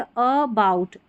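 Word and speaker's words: about: यहाँ पर ए के ऊपर ज़्यादा स्ट्रेस नहीं पड़ता, एक तरीके से हम ए जो है हम ए को अलग हिस्से में बांट सकते, अ फिर बाउट, फिर देखें इस वाली स्पेलिंग को अ फिर गेन, ये देखिए इसको अ फिर गो, अ फिर राउंड, अ फिर लोन, इस तरीके से ऐसा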